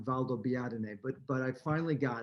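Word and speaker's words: Valdobbiadene: going is valdobiadine italy it took me quite a lot of practice to be able to pronounce the name of the town valdo biatene but but i finally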